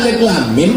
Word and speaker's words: Alif Lam Mim: Alama. Padahal alif lam mim bacanya.